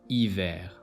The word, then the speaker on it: hiver: Letter H is always silent in French. Example: Haricot, hiver.